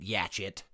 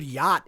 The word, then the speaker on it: yacht: I pronounced it yatchet. I see it. I see yatchet.